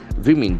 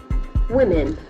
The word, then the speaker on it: women: women ined into Rescue Services for first time women w m e n the pronunciation is very tricky women women the two w letters are o and